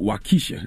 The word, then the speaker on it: Waukesha: Now you got a song on the album called Waukesha. Am I pronouncing it right?